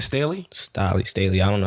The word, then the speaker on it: Stalley: drop the album though his name is definitely star Lee oh so I was right I was calling Staley attention back there can